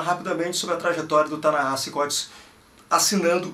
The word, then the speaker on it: Ta-Nehisi: Ta-Nehisi, se lê Ta-Nehisi, Ta-Nehisi Coates se escreve dessa forma que tu tá vendo aí.